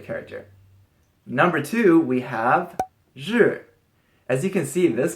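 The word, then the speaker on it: 日: side of the character number two we have sure as you can see this character basically looks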